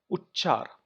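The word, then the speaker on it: उच्चार: An example, Uchchar, where a ch is attached to another ch and you are making a sound that is more pronounced on ch, but one is pronounced half and another is pronounced full.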